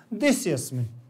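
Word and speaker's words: देशेऽस्मिन्: इसका उच्चारण ध्यान रखना थोड़ा सा कि जब इसको एक साथ पढ़ते हैं तो आ का उच्चारण नहीं होता, देस्यस्मिन ऐसे पढ़ेंगे, देस्यस्मिन, ठीक। लेकिन जब अलग अलग पढ़ेंगे देशे अस्मिन तो आ का उच्चारण करेंगे, एक साथ में नहीं।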